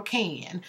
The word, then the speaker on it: Cane: next time that's can c a n e and the E is silent